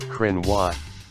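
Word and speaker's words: Cruithne: the periodic planetoid is named crook nee pronounced Krynn watt after an ancient group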